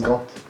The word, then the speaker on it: Gand: Gand, je crois qu'on prononce Gand.